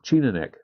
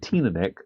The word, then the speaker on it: Teaninich: So I'm going to go with Teaninich solely because T makes more sense to be pronounced as a T.